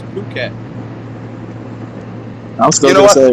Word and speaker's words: Phuket: I've been to I Phuket. spell Lovely Jose little with place. an H. It's Phuket. It's not Phuket. It's Phuket.